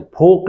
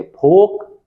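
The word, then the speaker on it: folk: लोक नृत्य फोक dance. देखिए एल साइलेंट है। फोक dance.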